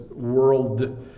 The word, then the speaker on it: world: Little difference though, because world, you do have a d sound at the end, but girl, like boy and girl, and world are very, very similar.